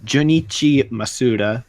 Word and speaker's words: Jun'ichi Masuda: Jun'ichi Masuda.